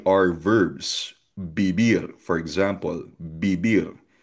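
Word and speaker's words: vivir: Beer for example biber. So again, yung V, letter V ay B sound sa Spanish.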